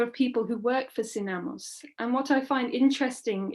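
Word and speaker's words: SINAMOS: created in 1971 called synamos this stands for national system of support for social mobilization but the acronym also sounds like the words sin amos or without masters sonamos operated at local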